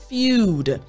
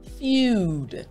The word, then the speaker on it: feud: The E and the U are together, but the sound is literally just the letter U.